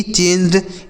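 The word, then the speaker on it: choose: सी H double O एस ई इसे पढ़ा जाता है दोस्तों चूज।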